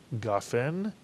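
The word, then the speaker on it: גפן: of the word is gaen gofen and the vertical line under the gimmel next to the kamat tells us to Accent the ga in the word gaen and therefore the two-word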